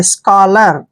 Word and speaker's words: scholar: O आता है तो CH का उच्चारण हम क्या करते हैं, क। क्या करते हैं, क। और O को हम पढ़ेंगे औ की मात्रा ऐसे, और L को हम पढ़ेंगे ले, और AR का उच्चारण रे करेंगे। स्कॉलर, क्या पढ़ना है, स्कॉलर।